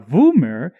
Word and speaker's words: Voomer: cannot become a boomer yes there is two different ways to pronounce it a voomer is the original name of the android while a boomer is when they become crazy confusing lazy writing i